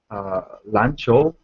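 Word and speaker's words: 篮球: 篮球 Lan is qiu. So it's yeah both are second tone, right?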